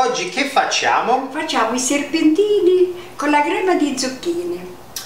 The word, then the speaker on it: serpentini: Serpentini.